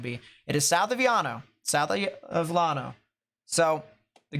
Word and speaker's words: Llano: anyone that lives near Lano or actually that's technically Yano because two Wells and I'm pretty sure it's Hispanic two L's and Spanish is pronounced yeah and that is